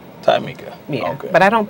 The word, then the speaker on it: TJameika: The J is silent. It's actually pronounced TJameika. TJameika.